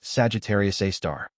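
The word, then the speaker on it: Sagittarius A*: The super massive black hole at the center of the Milky Way is called Sagittarius Asterisk, pronounced Sagittarius A star.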